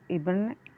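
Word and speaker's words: Ibn: even sorry eben evening it is pronounced as even even batuta urban butter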